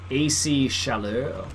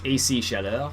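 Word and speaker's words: Chaleur: but it's called um AC shallow so it's AC which I believe stands for agricultural Canada agriculture Canada and they're spelled c-h-a-l-e-u-r so it's actually French so it's AC Shadow that's how you say it I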